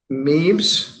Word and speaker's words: Meebs: All right, our next matter and our final matter of the day is Meebs.